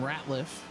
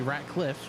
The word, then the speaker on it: Ratcliffe: As also heading down pit road is the number 19 of William Ratliff. Pardon me, Ratcliffe.